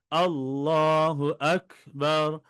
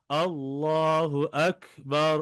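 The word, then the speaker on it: الله أكبر: আকবার এখানে ওয়াকফ করলে আল্লাহু আকবার বেশিরভাগ আমরা এখানে ভুল করি নামাজের মধ্যে যখন পড়ি আল্লাহু আকবার হুয়া চলে ওয়াও চলে আসে এখানে আল্লাহু আকবার দুই জায়গায় হামজা দুই জায়গায় হামজার পরিপূর্ণ উচ্চারণ হতে হবে আল্লাহু আকবার আল্লাহু আকবার এভাবে করে এরপর রবা রব বা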